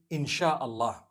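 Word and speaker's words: Insya Allah: They pronounce the S-Y the way we pronounce S-H. So they can write it how they want, for as long as when people read it, they read it Insha'Allah.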